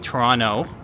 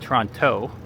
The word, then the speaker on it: Toronto: And if someone from Toronto, a Torontonian, as we call it, you might also notice I'm saying Toronto and not Toronto.